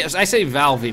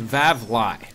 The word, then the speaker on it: Vavly: I say Valvey, but it's Vavly.